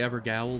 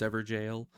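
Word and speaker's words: Evergaol: AOL it's like it's it doesn't look like that's how that should be pronounced but evidently it is but I first before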